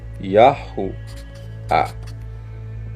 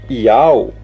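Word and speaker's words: יהוה: Yah, Yahu, A. Yahua. Essa é a verdadeira pronúncia do tetragrama. Vocês querem falar de tetragrama? Essa é a verdadeira pronúncia do tetragrama. É impossível ser Iau, porque vocês, na superficialidade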